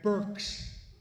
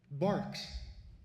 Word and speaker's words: Berks: Of our beloved county of Burks and our fatherland, the royal county of Barks.